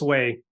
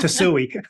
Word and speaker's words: Tsuei: My last name is spelled T as in Tom, S as in Sam, Uei. And it's pronounced Tsuei, Mm-hmm. not Tsuei.